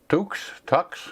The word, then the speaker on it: Tux: We got Tux, I guess the way you pronounce that, T-U-X, Tux.